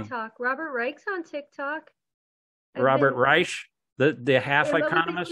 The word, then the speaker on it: Reich: Reich, the half economist. I'm saying his name wrong. It's Reich.